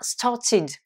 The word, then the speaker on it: started: La prononciation id, on a started.